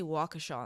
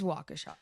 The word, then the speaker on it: Waukesha: we have to say Waukesha in the newsroom. It is Waukesha.